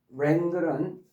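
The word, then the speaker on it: wrangle: WR로 돼 있는 W는 발음이 안 되고요. 그다음에 랭글 WR로 된 것들은 다 의미가 부정적이라고 그랬어요.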